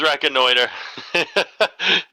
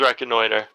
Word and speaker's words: reconnoiter: I swear to God, it is reconnoiter. I think in French it's reconnaître, isn't it? I don't know. I know in English. That's about it. Yeah, we use the French word, from what I remember.